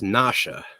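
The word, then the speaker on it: נשא: It's not pronounced NASA, though. It's Nasha.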